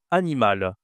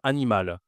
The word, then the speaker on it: animal: Regarde, ici, animal, je dois prononcer. C'est un L ici.